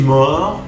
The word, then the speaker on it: mort: Je suis mort. Si eres una chica, je suis morte. Al agregar la E, la T se va a pronunciar. Sin la letra E, la T no se pronuncia.